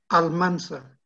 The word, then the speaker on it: Almansa: ¿Cómo se pronuncia la ciudad? Almansa.